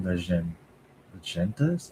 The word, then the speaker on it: legendas: Sinceramente, completo imersão, assistendo apenas continua Contudo, em inglês com legendas? Agendas? How do you actually pronounce this word?